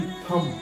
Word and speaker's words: thumb: THUMB, थम, हम थंब नहीं बोलते हैं, जो थंब लोग प्रोनाउंसिएट करते हैं ना वो गलत होता है, थंब नहीं होता है, थम होता है। ये बी साइलेंट हो गया।